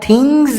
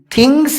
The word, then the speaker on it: things: یہاں تھنگز میں بھی جو اس لگا ہوا ہے اس کا تلفظ زا سے ہوگا، اسی لیے آپ تھنگز بولیے، تھنگس نہیں. میں اس کی نشاندہی اس